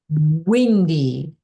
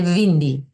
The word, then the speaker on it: windy: It's windy pronunciation. W not vind because W sound is not popular in all languages many language they don't have W sound they say V that's why they say vindi oh look at I